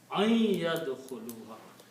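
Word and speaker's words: أن يدخلها: a noon before that, then this noon should be pronounced as noon gunna. An yadkhuluha.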